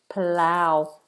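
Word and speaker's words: Palau: p I haven't heard of this place palao palow palow forgive me palow ow ow ow diong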